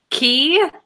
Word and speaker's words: Cay: private island right already freaking know that you pronounce K key yeah castaway see ya in America you say